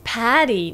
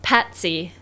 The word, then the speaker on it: Patti: My name is Patti, not Patsy. Oh, sorry, I must have heard wrong the first time! Alright, so in this case, she really wanted to say her name is Patti, not Patsy, yeah.